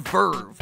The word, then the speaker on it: VRV: that isn't just Anime it's called Verve and it's spelled vrv which is kind of stupid